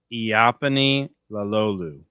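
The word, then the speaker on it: Iapani Laloulu: it's pronounced Iapani Lalolu.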